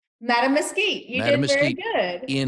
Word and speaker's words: Mattamuskeet: Your high school so let me see if I can pronounce this right, if I've got it right. Is it Okay. Mattamuskeet? Madam Mesquite, you did very Mattamuskeet good.